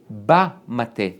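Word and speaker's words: בַּמַּטֶּה: The Ibn Ezra is going deep into Hebrew grammar, and it says, ba-mate, with kamatz, ba, which is an open pronunciation, which means it's almost like a hey, the staff, which means the known staff.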